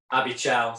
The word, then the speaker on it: Abichal: Abichal, sorry. We just had a discussion about this, how to pronounce Abichal. Yep. Abichal.